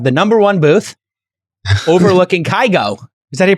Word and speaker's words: Kygo: and I have the number one booth overlooking kygo is that he pronounce his name yeah he's incredible kygo if